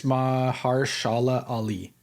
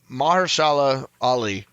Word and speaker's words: Mahershala Ali: I think it's Mahershala Ali. that sound that was how I was going to pronounce it myself.